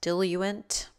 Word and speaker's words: diluent: Add 2 milliliters of, apparently this word is pronounced diluent, 2.6 milliliter drug solution.